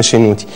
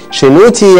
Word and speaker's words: شنوتي: بعض اللي هو التي، فيبقى شي نو تي اللي هي ايه بقى؟ شنو ده، هو ده اسم شنوتي. شنوتي يعني ابن الله او الذي لله، شي نو تي.